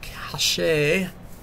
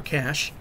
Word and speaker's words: cache: Yeah, I'm wondering if clearing the Java cache, or cache, yes, it can be pronounced either way, is helping.